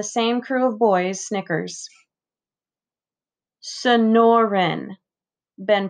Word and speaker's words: Sonoran: already ben nods who ever heard of a snoring desert frankie shouts and the same crew of boys snickers sonoren ben pronounces the word slowly it's the name of